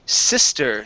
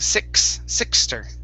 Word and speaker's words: sister: Let's go to the word sister. Now, here you pronounced an X saying sixter. Instead of six, it's sis with S sound.